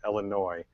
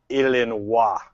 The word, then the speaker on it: Illinois: have to realize that the word as we pronounce it Illinois is actually French so they prefer you to pronounce it illin yes please ill all